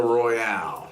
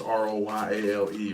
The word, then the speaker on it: Royale: Well, it's R-O-Y-A-L-E, so Royale, I think, is what it is. Oh. Instead of Royal, R-O-Y-A-L, it's R-O-Y-A-L-E, Royale.